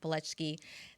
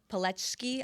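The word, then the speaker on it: Palczewski: Alex Pletchki. That is their fourth. Pletchki, I believe it's spelled with a, but sounds like E when I was at least that's what the announcers were saying.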